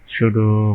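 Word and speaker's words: pseudo: sudo element sudo বানানটা কি ঠিক আছে কিনা আমরা একটু দেখি sudo p আছে একটা এই জন্যই এটা একটু অদ্ভুত sudo element ওকে তাহলে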